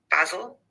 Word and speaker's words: basil: the first syllable in both. But in British English, we would have an a basil.